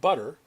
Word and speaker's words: butter: But is how we say the first word, and butter is how we say the second word. Notice how butter doesn't seem to have any actual T's in it.